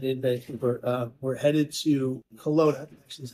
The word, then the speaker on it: Kelowna: We're headed to Kelowna, actually is how you pronounce it, Canada, to interview, I'm not going